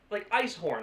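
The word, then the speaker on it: ijshoorn: But like, they're words like ice horn. It's like I-J-S, like H-O-R-N, ice horn.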